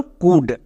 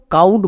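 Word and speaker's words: could: একই রকমভাবে এই শব্দেও দেখো এর পরে ডি আছে, এখানেও এল সাইলেন্ট থাকবে এবং এখানে OU আউ সাউন্ড দেবে না, তাহলে এখানেও আমরা OU এর জন্য হস্যকার সাউন্ড করব, আমরা একে সাউন্ড উচ্চারণ করব না।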